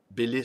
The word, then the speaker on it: Bélisle: cet ami michel bélisle qui souhaite maintenant que l'on prononce son nom comme ceci michel baylet cela il faut faire